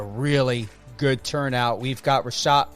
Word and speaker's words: Reshat: It's Reshat.